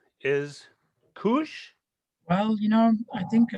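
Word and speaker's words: Keush: the proper pronunciation is cush well you know i think uh it depends who you ask so some people say kosh some people say kush i think you should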